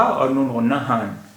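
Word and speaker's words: ہاں: फिर इसका उच्चारण होगा हान, हान। लेकिन बिंदी नहीं, इसलिए इसका उच्चारण है हाँ।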